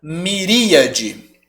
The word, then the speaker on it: miríade: Bom, a primeira palavra a gente pronuncia miríade, tá?